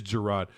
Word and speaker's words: Gerard: That's how you pronounce it, right? It is Gerard.